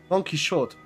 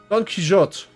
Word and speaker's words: Don Quixote: Don Quixote.